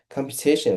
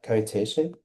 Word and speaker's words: competition: Competition, right? Computation. Yes, that's correct. It's pronounced competition.